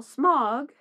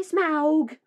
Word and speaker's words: Smaug: As for example, you would pronounce it augmented, not augmented. So why would you call Smog, whose name makes sense, Smog, Smaug?